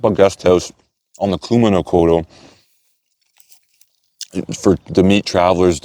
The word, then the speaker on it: Kumano Kodo: So it's not, I was saying Kudamo, it's Kumano Kodo.